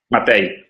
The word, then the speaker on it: Matej: Matej, hai pronunciato correttamente.